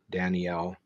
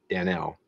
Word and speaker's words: Danel: a aabel tamel Ramel Danielle not Daniel but Dan Danel uh Ezekiel barakel AEL